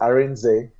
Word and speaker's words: Arinze: To avoid any embarrassment, tell me exactly how I pronounce your name. Okay, my name is Arinze.